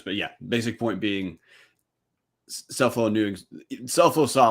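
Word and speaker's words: Scelfo: of slu's head coach it's Frank suffolo cell phone cell phone man uh congrats to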